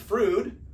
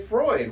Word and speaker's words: Freud: they don't say Sigmund Freud, they say Freud. Why? EU or REU in German is Roy. EU is pronounced Oi. And Deutsch, which is the German word for German, EU is Oi, Deutsch, Freud.